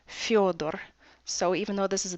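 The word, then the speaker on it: Фёдор: For example, we have the name Theodore, which we can pronounce in English with the th sound, but when you say that name in Russian, it's Fyodor.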